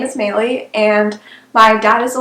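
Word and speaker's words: Meili: in case you didn't know my name is maylie and that's spelled m m-e-i-l-i i know it's very confusing most people pronounce it incorrectly so i get miley a lot i get melee a lot but yes my name is maylie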